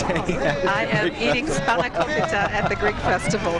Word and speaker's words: spanakopita: it's because she's hanging out I am eating spanakopita at the Greek Festival. How do you say it again? Spanakopita.